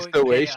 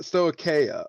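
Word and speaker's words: Stoicheia: I feel bad now because I butchered the nation name in my video because I couldn't figure out exactly how you were supposed to like pronounce that. And I think I was going to. It took me like 5 days to learn that pronunciation. I think it was called like Stoacia or something like that.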